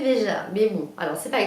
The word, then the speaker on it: Veja: J'ai enfin, alors il faut quand même le savoir que pendant des mois j'ai prononcé Vega, alors je disais regardez mes baskets Vega, et j'ai acheté des baskets Vega alors qu'en fait on disait Veja, mais bon alors c'est pas grave.